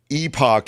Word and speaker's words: epoch: me to do uh Epoch is a a the British really the way that the Brits say it so that's on brand